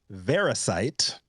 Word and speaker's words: Verisight: But before its first permits were issued in the fall of 2022, a company called Verisight, rhymes with parasite.